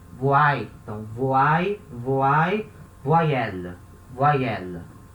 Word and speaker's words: voyelle: Esse Y I vai ter som de I, voai.